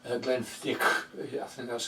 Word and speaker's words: Glenfiddich: I like Glenfiddich, I think that's how you pronounce it. I call it Glenfiddich.